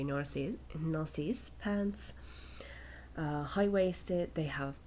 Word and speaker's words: Narcisse: how it's spelled so said in the English Way nurses nurses pants high-waisted they